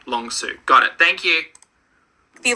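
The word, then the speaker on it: Long Sault: oh hold on everyone's yelling at me it's pronounced long Su long suo right long suo got it thank you the long suo Parkway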